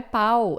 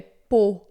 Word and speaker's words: Pau: Essa cidade na França não é pau, é pô, tá? Pô, a U é sempre, sempre som de o, beleza?